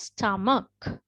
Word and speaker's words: stomach: do not pronounce so this is like silent h so we pronounce it as stomach right so the the